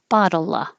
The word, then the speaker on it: bottle: it's not bottle uh bottle bottle of water the t's change to d's bottle of water of